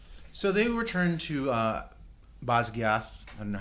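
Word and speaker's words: Basgiath: So they return to uh Bosgath I don't know how we're pronouncing it. The author says Bisgayth that's not how I would have I don't like it but that's what she says.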